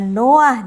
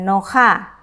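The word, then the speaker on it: נֹחַ: Nah, ada pembacaan yang tidak biasa ketika saya membaca Noah di sini. Saya tidak membacanya dengan Noha ya. Termasuk juga ketika saya membaca ini Misbeah. Saya tidak membaca dengan Misbeha ya, tetapi Misbeah.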